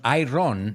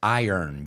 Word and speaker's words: iron: Cuidado con la pronunciación. No es iron, it's iron.